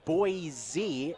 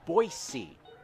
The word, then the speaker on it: Boise: about the city of boise idaho it's not boizee it's boise idaho learned that the hard way last year